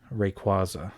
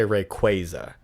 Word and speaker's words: Rayquaza: if you need to oh rayquaza that's how i say it but he's based off of a quasar so a lot of people say rayquaza oh okay i can